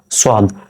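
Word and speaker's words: صاد: এবার দেখেন সোয়াদ, স উচ্চারণটা খেয়াল করেন, সোয়াদ, স, অ থাকছে লাস্টের দিকে, তাই আমরা স পড়ব।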